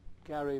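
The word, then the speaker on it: Gerry: And I heard from a UH professor called Stuart Gary Brown, who was quite a well-known scholar. Stuart, G-E-R-R-Y, pronounced Gary for some reason.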